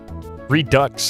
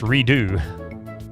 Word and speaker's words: Redux: Redux is not pronounced redo.